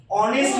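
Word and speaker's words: honest: এবং কনসোনেন্ট দিয়ে কোন ওয়ার্ড শুরু হয়েছে সেটার উচ্চারণ হয়ে যায় দা চলো এবার দেখি তাহলে আমি একটা জিনিস লিখলাম এখানে লিখছি অনেস্ট ম্যান এইচ ও এন ই এস টি অনেস্ট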